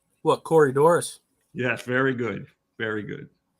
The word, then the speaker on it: Corydoras: What, Corydoras?